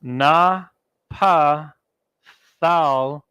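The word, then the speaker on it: Naphtali: out we got Nepali when you pronounce it in the ancient Hebrew it's na PA Thao and then yeah these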